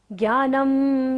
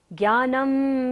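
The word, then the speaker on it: ज्ञानम्: ज्ञानम, ना के ऊपर बिंदी है और बाद में क्या आ रहा है? य र ल व। यदि बिंदी के बाद होते हैं तो बिंदी का उच्चारण क्या होता है? म।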